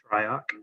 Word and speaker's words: Shryock: Shryock.